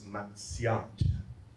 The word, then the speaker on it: Marcial: Next slide, but how are the CHamoros going to pronounce Marcial? You already know Carlos, right? Esparsa, Espatsa. So Marcial becomes Matsiat. But listen, Mat, but people get lazy. And Matsiat becomes Makshot.